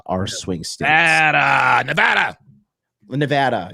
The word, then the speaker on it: Nevada: do believe Arizona and Nevada are swing stat NADA Nevada Nevada is that how you say Nevada yeah you always say Nevada look look I'm officially